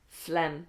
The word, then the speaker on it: phlegm: should be like this phlegm that's it it's a funny spelling phlegm phlegm it sounds like this but it's spelled like this phlegm and that's when it's